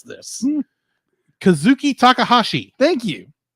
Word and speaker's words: Kazuki Takahashi: I can't pronounce this. Kazuki Takahashi.